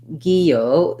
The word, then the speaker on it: guillotine: it in american english we may not say it exactly like the french but gyo we don't um say the l sound so we say first the g sound and an e sound